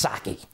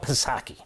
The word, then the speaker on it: Psaki: I know it's Psaki. I call it Psaki. P is silent, not for me.